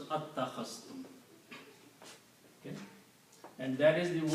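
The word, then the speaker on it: أتخذتم: one with a fatha, the first alif is pronounced and it is pronounced as attakhastum.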